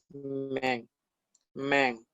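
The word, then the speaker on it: 们: Y tenemos al lado, no es una sílaba que se pronuncia men, men, que es esta es esta.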